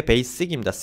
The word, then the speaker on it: basic: 이게 basic입니다. S 발음이 나요. 주의하셔야 되고요. G 발음 나는 경우가 있거든요. 제가 예전에 이거 틀려가지고 한참 고치는데 힘들었습니다. S 발음이 납니다.